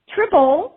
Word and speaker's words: Tribole: Evelyn, do you pronounce it Tribole? Tribole, that's how I Tribole.